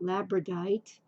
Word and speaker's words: labradorite: is again it's a I'm going to say it wrong labradorite or as people call it labradorite and my camera's not